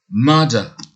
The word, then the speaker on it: mother: Et là, on dit mother, mother, ok? Donc, le premier U, la lettre U est prononcée E, comme ce nouveau son. Et à la fin, E, c'est le son schwa.